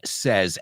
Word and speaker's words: says: Muchos dicen said y says, pero cambia el sonido vocal y es said and says.